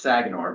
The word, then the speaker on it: Sagenor: Um, uh, if you do want to, uh, suffer with the pronunciation of my name in the future, it's Sagenor, but no one gets it right.